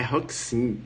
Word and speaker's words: Roxin: Um amigo falou, rapaz, é Roxin.